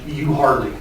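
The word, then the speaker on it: Euharlee: city in bartow county spelled e-u-h-a-r-l-e-e which i have since learned is pronounced you hardly it also includes effingham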